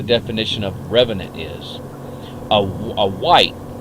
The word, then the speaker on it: wight: A wight, it's W-I-G-H-T, but it's pronounced W-H-I-T-E, like white.